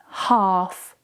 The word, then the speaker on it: half: When you have the combination of A and L together, the L is usually silent. For example, calm, half, talk, walk.